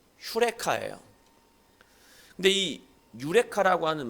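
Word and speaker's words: εὕρηκα: 말이 있잖아요 뭐라고 얘기합니까 유레카 그렇게 얘기하죠 아 모르시나요 정확하게 발음하면 휴레카 그래요 근데이 유레카 아고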